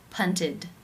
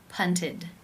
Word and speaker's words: punted: is case 3 where the ed is pronounced as the it as in sit with the D sound punted punted how do you pronounce